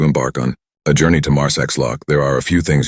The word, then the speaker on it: Marsaxlokk: on a journey to Marx lock there are a few things you should know firstly the correct pronunciation of this charming Village is mares loock remember it's all part